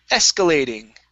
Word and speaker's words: escalating: um let's go to escalating okay this one is definitely at the very beginning escalating escalating okay very good uh